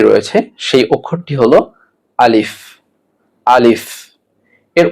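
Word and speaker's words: ألف: আলিফ এর উচ্চারণ সঠিকভাবে কিভাবে করবেন? সামনের দাঁতের আগা নিচের ঠোঁটের পেটের মধ্যে লাগবে, যেমন আলিফ, এবং হালকা বাতাস প্রবাহিত হবে।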